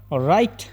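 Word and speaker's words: write: ಕನ್ನಡದಲ್ಲಿ ಮಂಡಿ ಅಂತ ಅರ್ಥ ರೈಟ್ ರೈಟ್ ನಲ್ಲಿ ಡಬ್ಲ್ಯೂ ಸೈಲೆಂಟ್ ಆಗುತ್ತೆ ಅದಕ್ಕಾಗಿ ನಾವು ಇದನ್ನ ರೈಟ್ ಅಂತ ಹೇಳಿ ಪ್ರೊನೌನ್ಸ್ ಮಾಡ್ತೀವಿ ಇದರ ಅರ್ಥ ಕನ್ನಡದಲ್ಲಿ ಬರೆ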